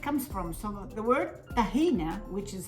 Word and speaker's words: tahina: So the word tahina, which is how they pronounce it now these days, tahiniya in Arabic, comes from the word yathan.